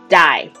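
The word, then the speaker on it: 大: the surrounding mountains with the character for big which is pronounced die and it also means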